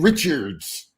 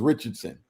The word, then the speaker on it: Richardson: He says, oh, there's this guy, Richards, and that's a lie. My name's Richardson, but you say Richards to mispronounce it, right, so that it sounds like you have no idea who I am.